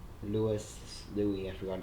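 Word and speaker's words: Luis: Ballad of Gay Tony Louie that's how you pronounce his name Louis do we have to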